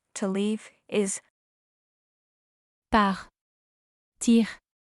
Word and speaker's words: partir: Par. Tire. Par. Tire.